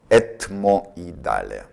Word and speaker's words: ethmoidale: Letter H is silent.